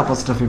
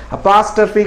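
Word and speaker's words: apostrophe: இப்படி போட்டுரும், எஸ்ஸுக்கு அடுத்து அப்போஸ்ட்ரோஃபி போடணும். ஓகே, இதில் கொஞ்சம் கேர்ஃபுல்லாக இருக்கணும், நிறைய பேர் தப்பு பண்ணுற ஒரு இடம். ஓகே, சரி, இந்த 7 o'clock இருந்து பாருங்கள் நம்ம எவ்வளோ விஷயம். முதல்ல இதனுடைய உச்சரிப்பு வந்து அப்பாஸ்ட்ரோஃபி கிடையாது, அப்போஸ்ட்ரோஃபி.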